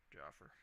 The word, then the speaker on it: Jaffer: We've got some questions on how to actually pronounce your handle, Jaffer. I pronounce it Jaffer.